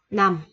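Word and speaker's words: 남: Nó đọc là nằm.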